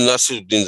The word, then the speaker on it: ناصر الدین: میرا خیال ناصر الدین زیادہ صحیح تلفظ ہے.